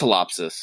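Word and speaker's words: Ptilopsis: i got top pull topsis or is it just telopsis i think it's telopsis yeah i think it's a silent p um i got her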